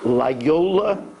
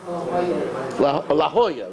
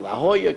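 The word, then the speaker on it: La Jolla: got a email from I'm not sure if I'm pronouncing it Lola California is that La Hoya right La Hoya California somebody that follows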